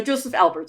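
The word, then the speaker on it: Josef Albers: Joseph Alberts. Did I totally mispronounce that? Yeah, no, Joseph Alberts.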